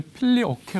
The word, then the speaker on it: Filioque: 첫 번째 는 우리 가 필리 오케 논쟁 이라 고 부르는 것 인데 , 영어 로 는 " 필리 오케 " 라고 발음 합니다 .